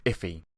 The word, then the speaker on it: IIFE: invoked function expression and it's actually pronounced iffy and understand why you